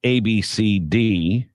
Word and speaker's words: Abcde: of course it is it's AB CD AB CD AB CD AB CD ab CD but it is spelled ABCDE okay so if I